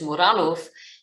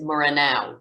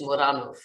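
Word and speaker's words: Muranów: So this film grabbed me immediately, and I will be pronouncing it the Polish way, which is Muranow, even though I think for many people, they will pronounce it Muranow, which is completely fair,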